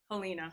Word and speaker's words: Helena: Helina.